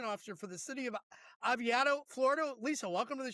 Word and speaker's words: Oviedo: She is the Public Information Officer for the city of Oviedo, Florida. Lisa, welcome to the show. Thank you. It's actually Oviedo, Florida.